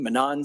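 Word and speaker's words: Monon: Uh, so the Manan Monan, I've heard it pronounced a few different ways. We're going to go with Manan here, folks.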